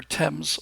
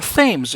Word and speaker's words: Thames: And there's a something that's shot, looks like it's shot on the banks of the River Thames, or Thames if you prefer.